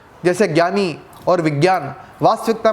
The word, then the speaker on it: विज्ञान: वास्तविकता में इसका जो उच्चारण है वो जय है, यानी कि इस शब्द को विज्ञान कहा जाएगा या इस शब्द को यज्ञ कहा जाएगा, किंतु शब्दों का भी स्वरूप बदल गया है।